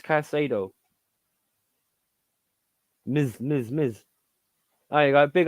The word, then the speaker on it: Caicedo: Yeah, but that's not how you say it, because there's an S in it. Moises Caicedo.